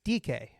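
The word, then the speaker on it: Dike: D I K E by the way. That's how it's spelled. DK, but it's DK, but it really spells dyke.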